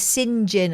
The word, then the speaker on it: St. John: Well, Singed, of course, in this country is spelled St. John. St. John.